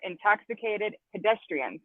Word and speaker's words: Intoxxikated Pedeztrianz: But welcome, and you guys are the Intoxicated Pedestrians, correct? Did I say that right? Correct.